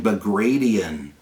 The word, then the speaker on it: Bagration: And this is during Operation Bagration, named after Prince Bagration, not Bagration. It's not how it's pronounced.